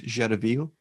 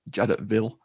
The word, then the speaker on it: Jadotville: It follows the 5-day siege at, if you're pronouncing it the French or Belgian way, I suppose it's Jadotville.